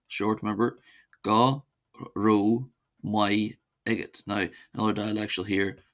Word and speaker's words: Go raibh maith agat: Then to say thank you to one person, one says go not go g short remember go ro my egg egot.